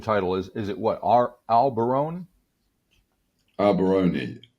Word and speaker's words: Allbarone: Allbarone. Allbarone. It's basically all bar one are 3 words that represent a chain of medium, low.